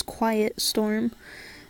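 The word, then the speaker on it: QYT Storm: then storm after it and he would always pronounce it as quiet storm and I thought that was so cool so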